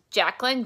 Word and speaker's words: Jaclyn: And that's Jacqueline, J-A-C-L-Y-N, and then. Maybe I'll spell it on this video so you guys can see it.